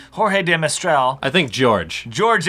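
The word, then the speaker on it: George de Mestral: But Switzerland is more in the German, French tradition. George. Than, George of the Jungle. George de Mistral, a Swiss electrical engineer.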